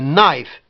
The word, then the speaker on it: knife: A knife. Et le que, il n'est pas prononcé du tout.